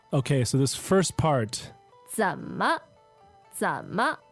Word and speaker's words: 怎么: Okay, so this first part, 怎么？怎么？ Z-E-N third tone, M-E neutral tone.